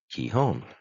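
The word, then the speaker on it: 基本: it sounds like key the i is pronounced as an e the kanji key equals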